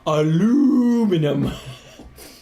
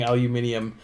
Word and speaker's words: aluminium: the second I but if you spell it with the second I that's the European way of of pronouncing it um I prefer uh Jeremy Clarkson's making fun of American's way of pronouncing it which is aluminum in one of the